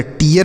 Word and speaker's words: tear: TEAR तो टी से ट, ई ए के साथ आर है तो इसका उच्चारण ई होगा, आर से र, तो यह टीयर हो गया।